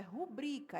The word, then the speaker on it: rubrica: pessoas erram muito vi rubrica. Rubrica. As pessoas falam rúbrica, só que não tem acento no ru. Não tem acento no ru, gente. Não tem acento no ru porque rubrica é paroxítona e não proparoxítona.